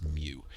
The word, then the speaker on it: mu: weird one right here it's mu it's the Greek letter mu it looks like a u with a little um tail in front of it and um and it's m it's spelled m u and this is the